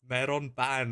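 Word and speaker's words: メロンパン: Oh, meron, like melon. Maron Pan. Meron. Meron pan. I pronounce Melon my bread. R's. That translates to melon bread.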